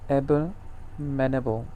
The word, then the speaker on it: abominable: word थोड़ा सा difficult to pronounce it is pronounced as abominable, abominable, or dreadful.